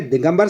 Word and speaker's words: दिगंबर: पे आप बता देंगे दिगंबर शब्द में व्यंजन संधि है और उसका उच्चारण होता है दिक धन अंबर आधा क धन अम अ तो यहां पे व्यंजन